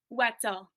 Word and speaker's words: Wietzel: Did I pronounce that correctly, or is it Wetzel? Wetzel.